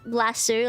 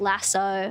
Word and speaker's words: lasso: You know how I I pronounce lassu like lassu, not like lasso. I say lassu.